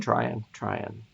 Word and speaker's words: Tryon: Tom Tryon was another. Or Tom Tyron. How you say it? Tryon? Right.